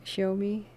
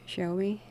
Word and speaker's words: Xiaomi: just like the makers of the cell phones show me it's like x i a and i but it's pronounced show me it looks like xxxiome but show me yeah that thing was uh like 350 bucks